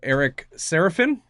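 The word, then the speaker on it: Eric Sarafin: We have Eric Seraphin. Am I pronouncing that correctly?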